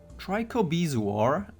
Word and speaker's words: trichobezoar: basically guaranteed to inflict death mark and bleed trichobezoar help that's how you pronounce that has the best chance against very